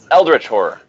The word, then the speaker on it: Eldritch Horror: Lovecraft universe, and that is, I think I'm pronouncing this right, Eldritch Horror, is it? Eldritch Horror.